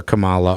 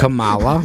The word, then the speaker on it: Kamala: Kamala, But- Kama. So Kamala. honestly, Just no. put the emphasis. I mean, that's if they were Kamala. smart. No, they wouldn't. You're putting the emphasis on the wrong syllable.